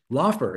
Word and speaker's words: Lauffer: hope I say your last name right right laugher is that right yep I said it right